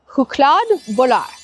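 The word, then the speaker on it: chokladboll: I had this little chocolate nuggy ball thing that is Swedish and I looked up the pronunciation. It's called huklad bul.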